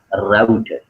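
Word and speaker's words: router: A picture of अ राउटर। राउटर या फिर रूटर, दो नामों से प्रोनाउंस किया जाता है, रूटर भी सही है और राउटर भी सही है, ठीक है।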